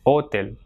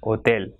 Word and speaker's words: hotel: So it has got 2 syllables. So the last one will be stressed. You will not say hotel, but it will be hotel.